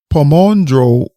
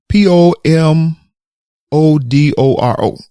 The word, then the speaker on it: Pomodoro: d o r o i probably butchered the pronunciation of the word here but it's spelled p o m o d o r o Pomo Doro method I believe that's closer than what I said initially Pomodoro method okay that's a technique